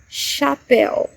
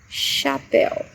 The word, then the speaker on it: chapéu: When letter H is preceded by a C, it has the sound sh. For example, chapéu, chapéu.